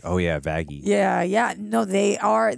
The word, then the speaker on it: Vaggie: Well, what is it? Vaggie or Vaggie? Vaggie. Vaggie. Yeah. Hard G.